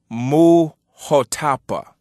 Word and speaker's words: Muhotapa: So with this being said, the proper pronunciation that I often use, you will often see me use, for this word that you say as Imhotep would be pronounced Muhotapa in the Kiswahili language.